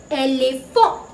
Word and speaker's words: éléphant: Frenchல we say éléphant. Éléphant. இங்கேயும் நீங்க T ய pronounce பண்ணக்கூடாது. It is silent and N வந்து ஒரு nasal sound. And fa கிடையாது, fa. O sound. So éléphant.